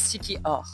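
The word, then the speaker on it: Siquijor: on vient d'arriver à Siki jor ou Siki or oui parce que ça se prononce Siki or voilà donc on vient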